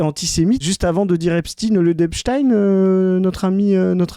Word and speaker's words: Epstein: C'est pour ça que les gens disent Epstein dans la majorité des cas. C'est qu'on est habitué à prononcer ça comme ça, avec un suffixe à l'allemande.